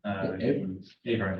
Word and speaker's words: Avard: How do you pronounce it? My name is Avard. Avard, yeah, it's Irish for Edward.